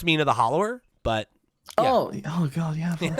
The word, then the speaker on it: Mina the Hollower: I mean, it's I It's pronounced Mina the hollower, but Oh.